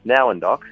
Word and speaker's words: Nowendoc: It's a question I get asked a lot, and it's actually pronounced Nowendock.